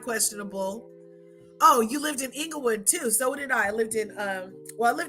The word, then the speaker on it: Inglewood: I hung out in Inglewood Englewood that's how we used to say it when we drive through Inglewood you have to say it like that anything with wood you